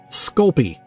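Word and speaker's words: Sculpey: called called it sounds that sounds like I'm mispronouncing it but that is the correct pronunciation sculpy it's uh it's really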